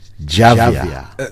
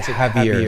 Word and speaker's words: Javier: J yeah yeah but the J is silent we pronounce it heavier instead of so instead